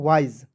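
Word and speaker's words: wise: उच्चारण करेंगे ठीक है एस ई का उच्चारण दोस्तों कहीं-कहीं ज के रूप में भी होता है ठीक है बहुत सारे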